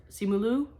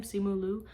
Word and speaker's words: Simu Liu: when I saw the Shang-Chi action figure of Simu Liu. I think that's how you pronounce his name, Simu Liu.